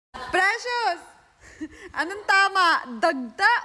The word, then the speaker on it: dagta: tama magtatanong tayo ngayon obri ano yung tama dagta or dakta dagta oh dagta dagta dagta dagta o one point one point na saakin one point k Precious Anong tama dagta o dakta dagta dagta Two points kay war Ellie